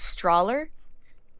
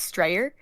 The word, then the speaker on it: Strawler: My last name is Strawler. He would pronounce it as Strayer.